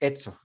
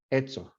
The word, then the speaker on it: eso: Otro ejemplo, si van a cierta parte de España, sometimes if you say like eso, they'll pronounce it etzo, etzo.